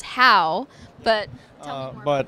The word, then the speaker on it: HAU: It's pronounced HAU, but tell me more about that.